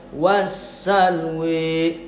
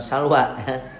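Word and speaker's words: السلوى: Kalau misalkan Imam Waros bacanya wassalwi ya, bukan salwa salwi ya. Salwa 2 harokat.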